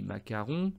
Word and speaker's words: mascaron: sculptures qu'on appelle des macarons alors c'est pas les pâtisseries les macarons les mascarons mais ça se prononce macaron qui sont des représentations